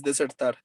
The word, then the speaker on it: desert: Desert is desierto, and desert is desertar. So which one is each? Desert first Okay. es desierto y dessert second es postre. Right. Yeah, perfect. Thank you, Julian. So desert with the accent at the beginning, desert, it is the